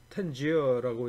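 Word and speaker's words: Tangier: 이게 이제 그 영어로는 이게 텐지어라고 이제 발음이 되는데, 여기서 이제 어떤 사업을 했냐면 크레딧, 그러니까 그 신용카드 같은 그런 그 크레딧으로 식수를 갖다 공급하는 사업을 갖다가 했어요.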